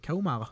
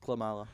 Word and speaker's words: Klimala: They spelled Kilmala instead of Klimala. See, the announcer also called him Kilmala as well.